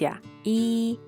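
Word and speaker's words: 一: We go step by step, first with the number 1 it is pronounced (yi1), remember it is the first tone, in this case the “Greek y” and “i” are pronounced the same, but the two are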